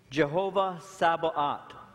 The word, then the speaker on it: Jehovah Sabaoth: He's called the Lord of hosts, Jehovah Sabaoth.